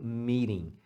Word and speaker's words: meeting: você pode falar meeting mas você vai ouvir muito principalmente falantes americanos pronunciando meeting como se esse T fosse um R meeting as duas formas estão corretas Where is the meeting